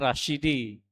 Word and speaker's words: Rasjidi: Ini ejaan zaman dulu. Rasjidi sebenarnya Rasyidi ya.